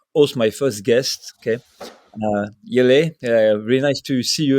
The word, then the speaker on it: Jelle: Like how my mom says it, it's Jelle. We explained the last LE, Jelle.